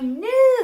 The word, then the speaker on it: knew: So I always tell kids that there are two new there's new like that kind of new like I have a new shirt or there's the ken new like I knew that and the way you can remember the I knew that one we keep a lot of what we know or what we knew silent right we don't say